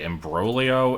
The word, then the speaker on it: imbroglio: problem is I don't I always pronounce imbroglio and hgeiminy wrong. So it it can't be in the same like category as those cuz seriously embroio and hegemony are the correct pronunciations and they sound much worse in the way that I say them.